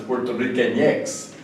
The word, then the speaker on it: puertorriqueñex: often write it with an X, but the way it's pronounced is Puerto Riqueñex.